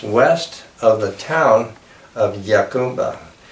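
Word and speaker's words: Jacumba: It's just west of the town of Yacumba. Yacumba is not a Spanish name, so it's not pronounced like Hakumba, as some might say. It's Yacumba, which is actually an Arabic word for the wild gourd.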